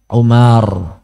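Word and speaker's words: عمر: Antum baca kitab gundul Ain mim ro bacanya Umar Kalau tulisannya Ain mim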